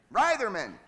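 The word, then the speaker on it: Reitherman: right it's how do you say it rman Ryman that's right that's correct Wolf Gang Ryman Wolf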